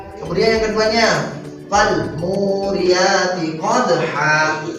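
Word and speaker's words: قدحا: Kemudian yang keduanya fal muriyati qadha. Awas, jangan dibaca fal muriyati qadhan.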